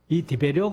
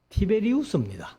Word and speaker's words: 티베리우스: 성경은 얘기를 하고 있는데이 디베료 이제 우리 이 학교에서는 티베리우스 티베리우스 그리고이 할아버지들이 뭐 티베리우스 이제 이렇게 발음이 안 됐는지 우리말로는 디베료 이렇게 했는데이 티베리우스는 이제 로마의 2대